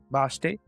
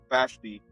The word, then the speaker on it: Vashti: Basti. I mispronounced everything. It's all good. Vashti.